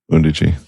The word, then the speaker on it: Undici: Means 11 in Italian.